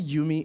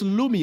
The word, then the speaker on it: Lumi: like uh uh uh wait, did I say Yumi? Is that is that the correct pronunciation? Okay, it's it's Lumi.